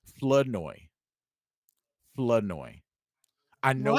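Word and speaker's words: Flournoy: You got to drop the R. Floodoy.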